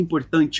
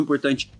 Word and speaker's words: important: muito importante uma reunião importante uma pessoa importante uma situação importante important percebe que esse t o t do meio ali ó que tá antes do a important você fala ele mudo important important essa é